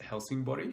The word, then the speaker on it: Helsingborg: a smaller Swedish town called Helsingborg or house mostly pronounced Helsing body I arrived on a